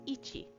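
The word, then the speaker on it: 一: Uh if you've been studying your kana at all, you can see that it is made up of e and chi and so it's ichi.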